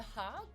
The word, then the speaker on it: Hague: The Hague. Oh, Hague. Hag. Thank you, friends. To be honest, it's both pronunciations.